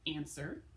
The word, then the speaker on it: answer: words this week include answer like to answer a question has that tricky silent w in there been like I've been